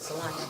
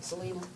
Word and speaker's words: Salina: Okis do pronounce it Salena, don't they? Not Selena.